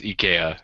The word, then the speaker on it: IKEA: Yeah, I don't want to be a dick, but I went correct pronunciation, yeah. IKEA. My friend from Sweden was like, "No, it's IKEA," and I was like, "Shit."